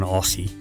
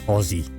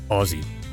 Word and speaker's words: Aussie: you're an Aussie no well I'm not an Aussie I am an Aussie that's how you pronounce it Aussie just like Aussie Osborne if you don't know